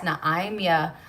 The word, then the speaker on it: Naima: Mine is spelled Naima. So mine is pronounced Naimia, but I think yours is Naima.